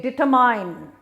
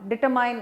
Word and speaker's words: determine: action is DETRMINE, and it is often pronounced with a mine, because you see their mine, you say determine. So people say it is hard to determine whether we should vote for one party or another. It is very hard to determine. Determine is wrong, it is determine. The E there is silent.